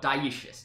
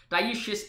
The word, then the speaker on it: dioecious: Okay, so he says, well, the term for having two species is called Diecious. Now I know how to pronounce it.